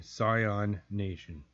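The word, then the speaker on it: Psion Nation: Scion Nation.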